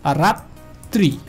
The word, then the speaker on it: রাত্রি: ব্যঞ্জনবর্ণটা দ্বিতীয় উচ্চারণ হবে, অর্থাৎ এই তটা দুইবার উচ্চারিত হবে, অর্থাৎ রাত্রি, রাত্রি।